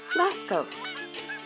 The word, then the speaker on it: Lascaux: Lascaux is pronounced Lascaux.